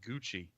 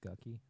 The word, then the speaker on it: Gucci: A lot of rappers say Gucci. Yeah, they get the Gucci Fendi Prada. It's pronounced Gucky.